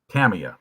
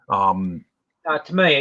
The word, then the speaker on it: Tamiya: Tamiya, you said it right the first time. I've heard both, so I try to be I try to practice both, because I said for years, I said Tamiya, and then I heard.